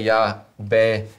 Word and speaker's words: Yahweh: Who say Yahweh, or Clementine of Alexandria.